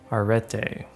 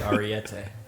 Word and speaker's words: Arete: I'm going to gas it up, but it's Princess Arete. I think is what we've come with as a consensus, is what we've agreed upon. I'm going to say Arete. Okay, I'm going to say it wrong too. I like Ariete. Like There's no R-E-D? I. Princess R. I was calling it Arte before, but it's a 2001 Japanese